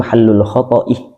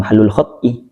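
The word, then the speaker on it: محل الخطأ: Beliau salah bacanya al-insanu mahallul khoto'ih wan nisyan, bukan mahallul khot'ih wan nisyan.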